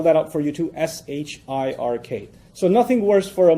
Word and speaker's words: shirk: I'll spell that out for you too: S-H-I-R-K. So nothing worse for a Muslim, from his faith perspective, nothing worse than shirk. S-H-I-R-K. Sounds like Shrek, so that's easy to remember, right?